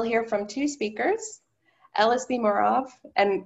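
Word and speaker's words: Mureaux: I can tell you that if I spell my name M-U-R-E-A-U-X, everyone could say Muro. Trouble. 1 second, please. Hold on. And no one seemed to be able to say Murov, and it's okay because technically I'm mispronounced my own name. It should be Murov.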